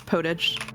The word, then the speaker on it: potage: It's potage. Potage? Okay, that sounded like the wrong pronunciation I would get made fun of by chat for saying. So it's probably potage in France, in French, but gotcha. Yeah, no, that's true. This potage was getting cold. I still have no idea what it is, but it Jelly seemed was right. Yes, it's right in French, but it gets pronounced that way in English too.